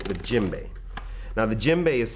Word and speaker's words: djembe: to you a lot about is called the jimbe now the jimbe is spelled DJ m b e this drum is